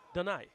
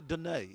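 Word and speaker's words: Donaie: Did I pronounce it wrong? Donai. Donai. Yeah. Oh, St. Lucian. Oh, so we can't say Dunai.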